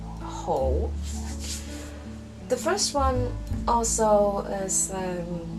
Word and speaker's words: 好: actually three meanings of this character pronounced whole the first one also